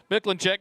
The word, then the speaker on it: Mikulenczak: Miklinchek, common spelling, Mikulenczak, just like it sounds and just like it's spelled.